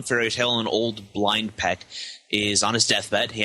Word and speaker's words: Pech: It's pronounced Pech! Pech! So, that's great! Right. It's pronounced Pech!